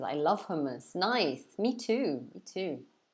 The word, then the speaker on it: hummus: People are always writing it, spelling it differently, but the pronunciation in England is hummus.